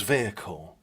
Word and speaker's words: vehicle: why do Americans mispronounce vehicle vehicle it's two syllables vehicle vehicle vehicle just